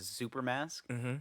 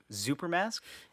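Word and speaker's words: Xuper: around that's wearing a super mask which i believe that's how it's pronounced x-u-p-e-r mask yup super mask and then what if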